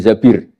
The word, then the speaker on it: Zabir: nikah sama Abdurrahman bin Zabir di hadis ini bukan Mbak Bacanya bukan Zubair tapi Zabir.